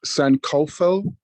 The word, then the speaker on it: Sankofa: It's Sankofa. Kofa, I'm sorry. I have a friend here who's correcting my pronunciation. Sankofa.